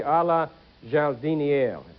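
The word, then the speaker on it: à la jardinière: I mispronounced it. It should be a la jardiniere, vegetables.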